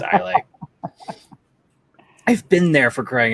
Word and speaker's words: Islay: Islay, I don't know which way is the actual pronunciation. I just know there is a wrong way to say it. It's Islay.